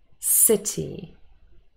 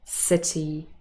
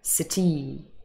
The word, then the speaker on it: city: Most common nouns and adjectives that have two syllables in English are stressed on the first. Window, city, happy. We do not say window, city, happy. No. Sounds like I have a French accent.